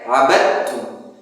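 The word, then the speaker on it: عَبَدْتُمْ: Abadtum. Jadi sebagian orang membacanya ada huruf sebagian dari sifat huruf dal. Tidak, abadtum, dal. Langsung ke huruf ta-nya.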